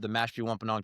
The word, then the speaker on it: Mashpee Wampanoag: heritage, and you mentioned being part of the Mashpee Wampanoag tribe. Good pronunciation.